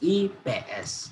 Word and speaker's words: IPS: Buku IPS, we pronounce this differently. I mean IPS. Yeah, there are 3 syllables. IPS.